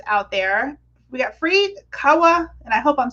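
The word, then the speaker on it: Kahwa: you coffee drinkers out there we got free koa and i hope i'm saying it right if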